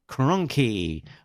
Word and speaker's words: Kronke: And then also at the convention was Andrew Kronke, rhymes with donkey.